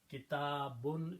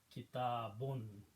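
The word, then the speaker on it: كتاب: Kitabun is the full word. If we stop, then we can pronounce kitab, but the full word is kitabun.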